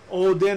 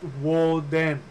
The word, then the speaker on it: Odin: Odin, again, here's the mispronunciation. Odin is pronounced Woden.